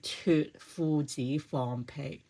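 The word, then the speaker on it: 脫褲子放屁: So today I'm going to be talking how you pronounce in Cantonese. So it should sound like 脱褲子放屁.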